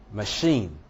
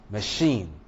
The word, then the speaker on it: machine: In a word like police, police, machine, machine, charade, facade, garage, you discover that the syllable that contains the schwa does not take stress.